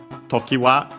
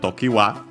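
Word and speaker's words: 常盤: Yeah, apparently the term comes from well, the name Tokiwa comes from Tokiwa Hiro.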